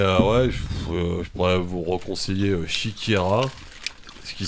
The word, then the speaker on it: Siekiera: Mais ouais, je pourrais vous reconseiller Shikira, ce qui s'écrit S-I-E-K-I-E-R-A.